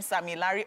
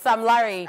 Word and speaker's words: Sam Larry: So when I say, is that guy's name Sammy Larry or Sam Larry? Because, Sam Larry. Because Sammy Larry sounds very like Sammy Larry. So the Sammy Larry pronunciation is when they're hyping, all those hype men. Sammy Larry. Okay. It's Sam Larry.